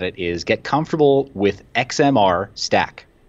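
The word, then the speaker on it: XMR-Stak: One recommendation that I would make to anybody who's looking at it is get comfortable with XMR Stack. It's spelled XMR STAK.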